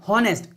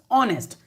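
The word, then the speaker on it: honest: इट्स नॉट हॉनेस्ट, इट्स ऑनेस्ट। तो यहां पर ही इज एन, ऑनेस्ट आ रहा है तो ओ बोल रहा हूं, ऑनेस्ट। देखो बोलते वक्त मैं इसे ऐसे बोल रहा हूं ऑनेस्ट, एच साइलेंट है, तो ऑनेस्ट में ओ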